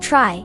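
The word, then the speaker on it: trie: For scenarios where you compare one string against many in a dictionary using a tree pronounced try data structure can be incredibly efficient.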